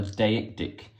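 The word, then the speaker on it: deictic: two opens with uh something we call a deic dick um which is spelled D e i c t i c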